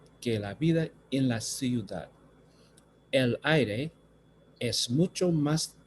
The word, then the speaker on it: ciudad: la vida en la ciudad. So again, here I have two vowels, I, U, so I have to pronounce them both, ciudad.